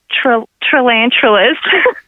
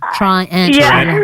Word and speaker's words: tarantula: I've been saying triantula. Well, you've been wrong.